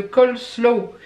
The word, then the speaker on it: coleslaw: Elle m'a dit, elle m'avait fait ça sous une forme de rébus, je crois que c'était mon premier semé sur les yeux je crois, donc le col. Et mon deuxième est une danse très lente ou un truc comme ça, slow.